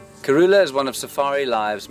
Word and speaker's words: Kurhula: Karula is spelt K-U-R-H-U-L-A. We, up till now, have spelt it Karula, K-A-R-U-L-A. This is, in fact, incorrect. The word, spelt as it is, has no meaning at all.